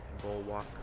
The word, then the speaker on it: Bulwark: Bulwark. Burning Bulwark. I think I was saying it wrong the whole time.